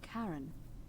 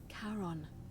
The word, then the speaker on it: Charon: It's just as you described it, only your pronunciation is a little off. The name you heard wasn't Karen. It was C-H-A-R-O-N, as in Charon, the ferryman of the dead.